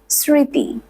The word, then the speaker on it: স্মৃতি: বর্ণের সাথে যুক্ত হয় ম ফলা সাইলেন্ট থাকে অর্থাৎ উচ্চারিত হয় না কিন্তু যেই ব্যঞ্জন বর্ণটির